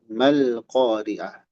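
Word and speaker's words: ما القارعة: Nah, alif ini terbuang secara bacaan tidak dibaca sehingga kita tidak baca alqoriah maloriah. Mal tidak dipanjangkan tapi langsung malqoriah.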